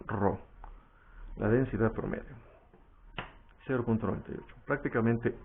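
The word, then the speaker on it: ρ: Rho, que por cierto se pronuncia Rho.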